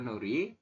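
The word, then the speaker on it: 놀이: Ini ya, nol, Nori. Itu dibacanya adalah Nori.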